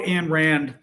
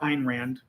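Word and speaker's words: Ayn Rand: Again to quote Anne Rand, there's a a a quote in I think it's the fountain head, one of her books or Ein Rand if you're saying it correctly, I guess, but the quote in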